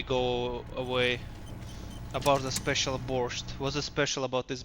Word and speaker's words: borscht: About the special borscht. What's so special about this borscht? It's pronounced borsch, actually, not borscht.